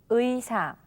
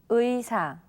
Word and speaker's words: 의사: consonant iung, or when it is the first syllable of a word. All right, then let's repeat after 선생님. 의사, 의사, 의자, 의자.